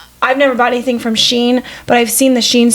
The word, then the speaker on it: Shein: living in like I've never bought anything from Shein, but I've seen the Shein stuff at Goodwill. Is that how you say it? Shein, right? Shein.